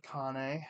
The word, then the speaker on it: Connie: course spending time with Connie which I found out later is how you pronounce it kept saying came but then I found out was Connie I don't know if